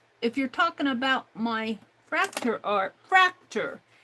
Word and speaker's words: Fraktur: r a k t u r fra it's pronounced fractor and it is um really like U it's